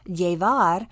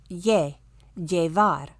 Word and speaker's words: llevar: The double L often sounds like the English Y, like yellow. So, llevar, we hear that Y sound at the beginning of the word, llevar.